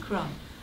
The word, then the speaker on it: Kron: Is it it rhymes with cone? Ice cream cone. Ice cream Kron. Kron.